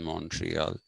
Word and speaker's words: Montreal: So territories like Montreal, we call it Montreal, the Americans call it Montreal, the people who live in Montreal call it Montreal. That's the French pronunciation, Montreal.